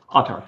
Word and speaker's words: Autarch: Is that how you pronounce the company? Yes, Autarch. Autarch, yeah.